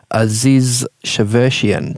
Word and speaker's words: Aziz Shavershian: about a young guy by the name of Aziz Shavershian. Did I pronounce that correctly?